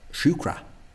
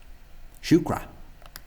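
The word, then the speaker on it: siúcra: So the most obvious mistake is probably the vowel at the end. Again, this should be in Irish when you get A at the end of an unstressed syllable. So basically, if it's not the first syllable, it'll be pronounced as O, what an English speaker might think of as a UH. O. So shukra.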